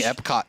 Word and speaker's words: Epoch: waiting in the wings it's it's spelled II approached EPOC he parties with the lasty pot last pot there's no duh I said that much I'm sorry I said it wrong it's like it's like Disney Epcot Center Epcot Center it's a so anyways we